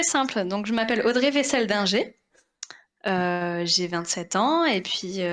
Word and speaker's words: Weisseldinger: Donc, je m'appelle Audrey Vessel-Dinger.